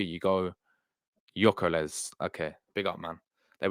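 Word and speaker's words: Gyökeres: yeah is y carez like you don't pronounce a g yeah uh Y carez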